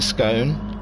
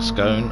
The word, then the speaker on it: scone: of tea and a scone it's gone so i'm covering all bases there if you say it like scone or you say it like it's gone sorry i'm having a